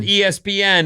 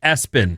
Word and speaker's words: ESPN: They don't pronounce it ESPN. It's pronounced Espen.